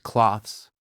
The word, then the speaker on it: cloths: Clean the windows with soft cloths. Pronunciation tip. Clothes, the E is silent. Cloths clearly pronounce the TH.